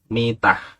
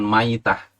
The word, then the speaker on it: mitah: dimaksud dengan mitan jahiliyah ini bacanya dengan Meme dikasroh yakni mitah artinya keadaan mati Bukan Maidah al-maidah itu bangkai seperti